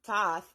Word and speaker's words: Thoth: Thoth pronounced thath also known as Tahiti is the ancient Egyptian ibis headed god of writing divine magic and the moon.